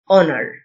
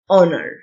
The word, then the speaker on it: honor: celebrate celebrate commemorate commemorate honor ال h silent honor يدين condemn ال n